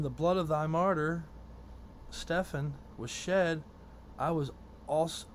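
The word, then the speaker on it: Stephen: know I was there when Stefan died or stepen it's all it's all pronunciation for that I believe I see the P instead of a v i say Stefan but but you know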